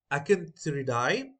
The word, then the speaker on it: Acanthuridae: Tangs are a part of Acanthuridae. Okay, this is pronounced as Acanthuridae or Acanthuridae. So anyone is fine, any pronunciation.